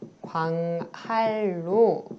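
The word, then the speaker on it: 광한루: 광활루 마찬가지로 광할루 이렇게 발음이 되죠.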